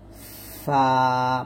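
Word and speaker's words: ف: তারপর হলো 14 নম্বর মাখরাজটা হলো নিচের ঠোঁটের পেট সামনের উপরে দুই দাঁতের আগার সঙ্গে লাগিয়ে উচ্চারিত হয় ফা। বাতাস বের করবেন ফা ফা এরকম ভাবে।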